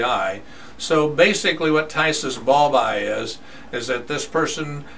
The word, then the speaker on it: phthisis bulbi: who came in uh with a disease called tyus BBY okay it's pretty pretty weird name uh so it's spelled p h t h i s i